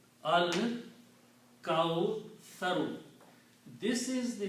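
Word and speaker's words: الكوثر: Sa is pronounced differently as tha.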